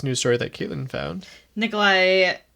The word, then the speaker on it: Nikolai: Nikolai... Is that how you say it? Nikolai? Yep. Nikolaj? Oh, no.